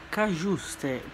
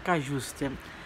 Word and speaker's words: Cajuste: fatto le visite mediche, Cagiuste, perché si pronuncia, credo, perché c'è la J, quindi giuste, quindi sarebbe il nome Cagiuste, quindi, ma un nome particolare.